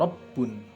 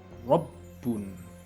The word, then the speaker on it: rabbun: Mithla rabbun wa ruziqu, seperti contoh rabbun, rabbun, itu mulut kita maju.